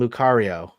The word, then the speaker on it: Lucario: say this one uh well it's Riolu and Lucario Lucario yeah rolu a Pokemon it's an evolution starting with Riolu Riolu into Lucario correct yes you are correct do they say their names does he say Lucario as like his not no some I mean